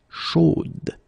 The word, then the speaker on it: chaude: at the end, and then the pronunciation will change a little bit, chaude. So here you pronounce the final d, whereas in the masculine form you don't pronounce it.